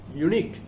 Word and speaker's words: unique: The next word is unique. It's a unique word. Its pronunciation is like picturesque.